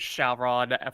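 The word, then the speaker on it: Syaoran: Yeah, I was just gonna say with that one, I was just correcting you on the fact that it was Sauron for the pronunciation of the name, and it was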